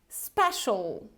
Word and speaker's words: special: Special, special. So it's not special, okay? It's special, special.